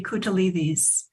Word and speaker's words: Koutalides: In Greek, it would be Koutalides. That makes more sense than trying to pronounce it in English.